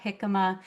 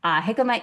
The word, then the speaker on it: jicama: There's a couple different ways to pronounce it, but either jicama or jicama. You don't pronounce the J. Obviously, it is a Spanish word. Jicama is like a large root vegetable.